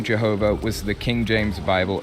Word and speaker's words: Jehovah: to the Germany region, where Y's are commonly pronounced with a J sound and W's are pronounced with V sounds. So is Jehovah God's actual name?